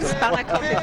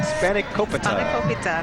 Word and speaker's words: spanakopita: it's because she's hanging out I am eating spanakopita at the Greek Festival. How do you say it again? Spanakopita.